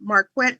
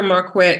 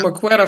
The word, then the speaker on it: Marquette: do me a favor marquet spell your name spell your website in case people because you know I was calling you MCA for a while so spell that out